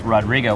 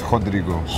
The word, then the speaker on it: Rodrigo: Brazil in the house Rodrigo which that's not the proper way to say your name right yeah it's Rodrigo okay yeah our Gallery